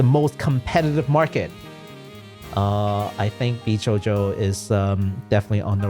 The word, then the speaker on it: VShojo: It is not VSojo, it is VShojo.